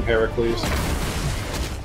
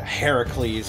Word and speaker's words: Heracles: but also in Rome they called him Hercules I believe it was the Roman pronunciation as Hercules yeah Heracles I believe is the proper pronunciation we only call him Heracles in this house uhoh